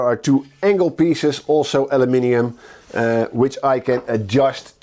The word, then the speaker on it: aluminium: alen bolt two strips of aluminum or aluminium let's call it aluminium uh uh at the width of my router base and on the back there are two angle pieces also aluminium uh which I can